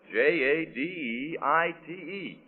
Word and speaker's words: jadeite: And that's spelled J A D E I T E.